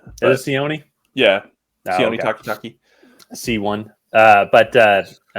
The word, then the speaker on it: Sione: It's funny, out of all I think I mispronounced his first name, but I said Takitaki correctly. I think Sione's correct. Is it Sione?